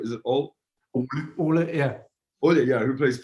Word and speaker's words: Ole: How do you pronounce his name? Is it Ole? Ole, yeah.